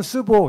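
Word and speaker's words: 世博: 중국 발음은 스보 이렇게 부르는데 그래가지고 어떻게 했냐면 이 사람들이 애 이름을 스보라고 졌어요.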